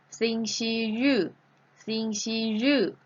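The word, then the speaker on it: 星期日: ออก เสียง ได้ 2 แบบ แล้ว ก็ คือ สิ่ง ชี ยื่อ เธอ เก่ง มาก ค่ะ และ ออก เสียง อีก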